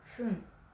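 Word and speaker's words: ふん: Pour dire 2 minutes, 5 minutes, 7 minutes et 9 minutes, on prononcera fun. Donc 2 fun, 5 fun, 7 fun, 9 fun. Et pour tous les autres, on dira pun au lieu de fun.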